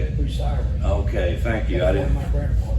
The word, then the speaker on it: Bucyrus: Bucyrus.